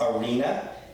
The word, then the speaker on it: arena: And an example of this in English, it looks like arena, right? Well, no, it's actually a word in Spanish as well. It's arena, and it means sand. It doesn't mean arena, it means, which is